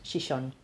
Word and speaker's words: Xixón: Y Gijón, por ejemplo, en asturiano es Xixón.